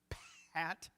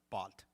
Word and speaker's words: Pat: and to this day, they cannot pronounce my name. You're like, what? How hard is that? Pat? No. It comes out bot. Bot. B-O-T. Bot. They don't have, they have ba, but they don't have p, so it's boss or bot.